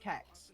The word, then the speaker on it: CeX: is unfamiliar with uh it's actually pronounced sex, but I call it CEX or CEX because it doesn't sound right.